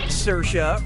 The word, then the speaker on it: Saoirse: Brooklyn yeah sure you do how do you pronounce her name Saoirse Ronan Saoirse Ronan say yours Ronan or see